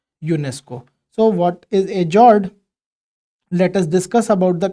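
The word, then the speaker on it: fjord: it is pronounced as Jord that is if we try to write it we would call it g r d f is silent so these are beautiful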